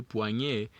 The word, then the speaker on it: poignet: Poi is for the first sound, the P-O-I. And then the G-N-E-T is for the second sound. Remember, we don't pronounce the last letter, so we say poignet, and the pronunciation right here.